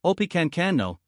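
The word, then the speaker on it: Opechancanough: Effectively beaten, Pawatan was quickly replaced by his wararchief, who the English called Oppenano, pronounced Opicano, but who the Indians knew as Pacquao and the Spanish as Don Lluis.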